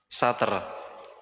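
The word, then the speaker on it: ستر: Pembatas satar sutrah satr. Pakai ta ya satrun bukan sat. Bukan pakai th tapi pakai ta. Satr.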